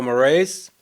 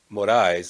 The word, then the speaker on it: Morais: evening my name is maurice it's morais is the proper way to say it but uh i'm just